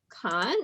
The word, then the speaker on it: Kohn: here with author lisa khan is that that's cone like pine cone all good i butchered